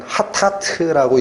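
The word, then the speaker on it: חטאת: 그래서 이 죄라는 단어가 구약 성경이 기록된 히브리어에서는 하타트라고 읽힙니다. 신약 성경이 기록된 헬라어에서는 하마르티아라고 읽힙니다.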